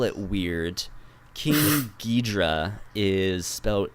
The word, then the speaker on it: Ghidorah: come down and fight Godzilla and that's King Ghidorah I don't know if I know that one